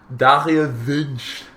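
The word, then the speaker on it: Dario Wünsch: Dario Vinch.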